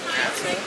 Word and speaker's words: Nassau: Nassau. Nassau. Nassau. Like the owl part is like very like. It's like Britney Spears. Ow.